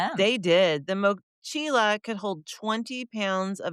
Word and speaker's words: mochila: horse and the rider should perish before the mochila did. Meaning the mochila is way more important than them. The mochila.